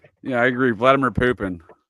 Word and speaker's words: Vladimir Putin: Vladimir Putin is how it's pronounced though, sir.